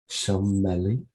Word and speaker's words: Sommeil-Hornby: Sommeil-Hornby.